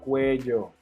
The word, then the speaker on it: cuello: Remember, in this case, double L is like a J sound.